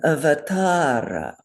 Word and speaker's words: avatara: And avatara, everybody open their mics and say avatara, 2 beats there.